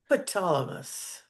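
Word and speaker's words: Ptolemais: Yeah, the P is silent. Ptolemus.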